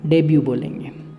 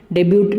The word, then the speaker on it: debut: इसमें टी को हम नहीं बोलते, जैसे डाउट DOUBT, तो इसमें टी साइलेंट रहता है। तो इसी तरह से ये जो टी है इसको हम नहीं बोलेंगे, डेब्यू बोलेंगे, डेब्यूट नहीं बोलेंगे।